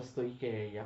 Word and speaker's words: stoicheia: La convenzione vuole che anche nella traslitterazione italiana sia così, quindi io scrivo così con l'accento con la I, però si pronuncia stoicheia.